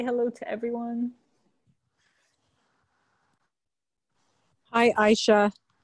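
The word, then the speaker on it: Ayşe: hello to everyone hi aisha ayesha sorry yes that's okay who's that i guess yeah i'm used to the arabic um pronunciation of your name oh ashley hi yes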